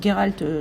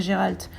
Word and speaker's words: Geralt: s'appelle geyrhalter de riffs le comédien le prononce geralt je ne sais pas pourquoi mais comme dans les jeux il s'est toujours prononcé giralt moi je l'appellerai toujours